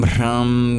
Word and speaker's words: Brahm: For the R, if you want to master the trill, you curl your tongue back, like in Brahm and Bhairvaya.